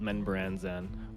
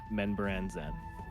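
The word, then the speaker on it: Menzoberranzan: So, like, I don't even know if he knows it's called Menbranzan or Benzo Branson.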